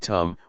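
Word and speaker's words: ธรรม: we see this now the dhamma in Thai pronounced in the same way as the word tum which means to do refers to Nature that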